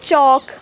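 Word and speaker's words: chalk: किंवा वॉल्क नाही ओके जस आपण मगाशी बघितलं चॉक एल सायलेंट आहे पण मिल्क मध्ये एल बोलला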